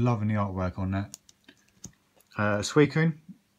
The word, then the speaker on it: Suicune: Suicune, or I've heard it pronounced Suicune, and it's a Suicune as far as I'm concerned, which is hollow.